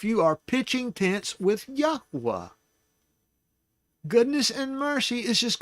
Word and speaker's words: Yahuwah: And we proved tonight his name is pronounced Yahuwah.